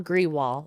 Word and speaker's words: Grewal: Grewal, and that's, the N is silent, and then GREWAL with Goosehead Insurance.